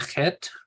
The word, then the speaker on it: Chet: Chaf and Chet are both that guttural sound, as in Bach.